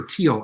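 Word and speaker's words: Thiel: a lot of business Peter theal or Peter teal actually is the way he pronounce his last name uh born in Germany's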